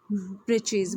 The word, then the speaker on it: breeches: The writer here spells it for fun to rhyme with the word witches.